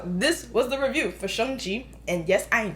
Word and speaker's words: Shang-Chi: uh okay so this was the review for shonji and yes i am saying it correctly okay